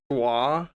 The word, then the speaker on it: foie: It's pronounced foie. FWA.